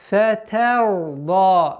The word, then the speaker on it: فَتَرْضَى: И поэтому фатарда. Они распространенная ошибка. Фатарда. Тар. Та. Та. Нужно договорить та с огласовкой фатха, а потом переходить на твердость звука ра.